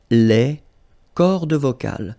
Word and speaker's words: cordes vocales: So you can notice that as usual in French, you've got this mark of the plural at the end, S, and then S here as well, but you don't pronounce them, okay?